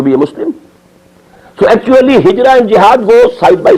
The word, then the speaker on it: Hijra: I'll explain the word Hijra also Hijra which we in order to pronounce hijrat this is the negative